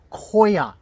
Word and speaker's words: coir: Koa is apparently the correct pronunciation.